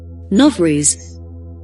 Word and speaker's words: Novruz: Novruz, celebration that would not die. It's official once again after having been prohibited for 70 years under Soviet leadership. Novruz, pronounced Nov-ruz, meaning new day, is